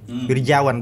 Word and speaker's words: Wirjawan: Wirjawan, begitu pronunciation-nya.